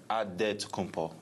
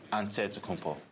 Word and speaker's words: Antetokounmpo: In the Jewish way, you gotta say it with a D, so it's Antetokounmpo. But in the Greek way, you say it with an NT, like Antetokounmpo.